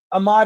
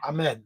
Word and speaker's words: Ahmed: Ahmad is in the house, by the way. Ahmad, Hello, Ahmed. yeah. Did I say it wrong? Yeah. Ahmed.